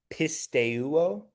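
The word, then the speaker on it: πιστεύω: Um, and then the last one, um, this one is maybe a little bit more difficult to pronounce just because it has a diff thong followed by another vowel, but it's pistuo.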